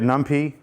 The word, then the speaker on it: NumPy: If you say it NumPy, you're saying it wrong.